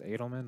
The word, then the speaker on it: Edelman: It's Edelman, not Adelman? Edelman. Okay, I always want to say Adelman. Edelman. At least that's the last time I heard it pronounced.